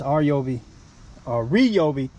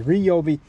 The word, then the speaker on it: Ryobi: kill for lawn in this reob I let me start saying it right because you guys getting mad at me Ryobi backpack sprayer what I'm